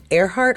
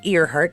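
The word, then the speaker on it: Earhart: excited to get the Amelia airheart or ear heart depending on how you want to uh pronounce it that storyline it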